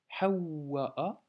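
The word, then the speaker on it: حَوَّاء: Ensuite Hawa'a, Donc hawa'a, tu vois, ha, on doit doubler le waw, hawa'a, donc blocage hamza ensuite, hein.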